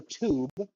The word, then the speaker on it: tube: uh, you know, uh, it's for tube, but the British pronounce it with a CH sound because they're British.